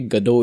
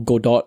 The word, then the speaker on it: Godot: Unreal Engine is free, Unity is free, Godot is free, or Godot if you want to pronounce it that way.